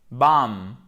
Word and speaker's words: bomb: Controlled, perform, automatically, bam. Il n'y a pas de B à la fin, hein? Pas de bombe. Non, bam.